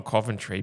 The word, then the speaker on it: Coventry: Like I'm Coventry, but the amount of times everyone pronounces the O as a U.